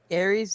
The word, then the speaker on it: Ares: Aries, the apex, rhymes with Marys and gay sex.